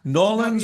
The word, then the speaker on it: New Orleans: Uh, Just like no, Norlands, yeah, Louisiana. yeah, Norlands, Louisiana. yeah, Not New Orleans, Louisiana, but the locals say Norlands, Louisiana.